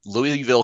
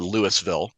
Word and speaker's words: Louisville: was living in uh Louisville Kentucky um and you guys might call it Lewisville the way it's spelled um Lewisville Kentucky and